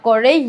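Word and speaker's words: Comte: সংক্ষেপে কোত লেখা হয়েছে উনার স্পেলিংটা আমরা বলি কো বাট এখানে এমটা উজ্য থাকে অর্থাৎ এম নামটা উচ্চারণ করি না বাট এম আছে উনার নামে অগস্ট কোতে সিও এমটিই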